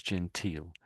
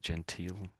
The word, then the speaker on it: genteel: So if I just we see it there actually that's gental. So this is an interesting word. So well not interested just another variation. So gental. So let's listen to them say gental.